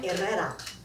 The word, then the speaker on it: Herrera: The professor called a few more names and then Herrera. Hello, professor. It's pronounced era. In Spanish, the H is silent.